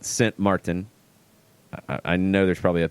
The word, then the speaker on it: Sint Maarten: Sint Maarten and Guadeloupe not st. Maarten but Sint Maarten I know there's probably a better way to pronounce it completely different than st.